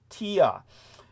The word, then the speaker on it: Thea: So one pronunciation for Thea in the anglicization would be Thea, but it's also in the Greek pronounced with a silent H, so it'd be more like Tia.